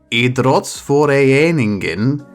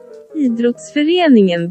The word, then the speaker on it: Idrottsföreningen: I don't know where that extra A sound comes from, but the Google Translate lady says Idrottsföreningen Brommapojkarna. The R is silent, maybe? Or she's not doing a very good job.